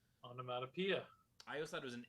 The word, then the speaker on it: onomatopoeia: for my entire life i thought it was on a monopia not automata pia onomatopoeia i thought it was